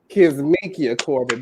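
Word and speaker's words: Kizzmekia Corbett: africanamerican woman and that is just a fact K mikia Corin that's how you say her name and she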